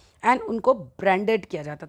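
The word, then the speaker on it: Bordeaux: यह बोर्ड बोलते हैं वैसे इसको बोर्ड और नेंट्स टू द अफ्रीकन कोस्ट।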